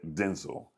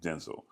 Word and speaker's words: Denzel: the office or I'm sorry, he just said Denel is how you pronounce his name. Denel.